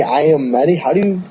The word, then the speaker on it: Iommi: The production for this album was actually postponed recently because of the announcement that Tony Iommi, I'm always messed up with his last name.